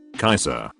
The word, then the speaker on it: Caesar: again julius caesar is also supposed to be pronounced julius caesar caesar caser kaiser now it makes more sense why caesar is